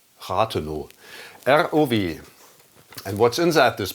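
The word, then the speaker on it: Rathenow: You can read R-O-W Ratheno, which is spoken out in German, Ratheno. You don't pronounce the W at the end of the word Ratheno, Ratheno.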